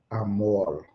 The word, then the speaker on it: Amoore: Amor.